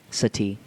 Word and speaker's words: Sati: that's right these years Sati Sati like a like the search for extr tral intelligence not seti like the thing that you sit on like a like a